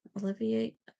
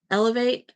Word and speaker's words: alleviate: kind of alleviate uh alleviate is that how you say it alleviate Elevate not Elevate alleviate take out um all